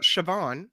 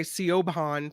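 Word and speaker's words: Siobhan: will stand the test of time this is pronounced sioban right yes y oh it already has so you know I think for Americans that they say Coban but that's you know that's just because you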